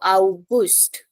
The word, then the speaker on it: August: Yeah, Gust is important. So August.